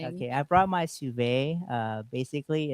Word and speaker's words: sous vide: I brought my sous vide. Basically, it's a a French How do you spell that, brother Sunny?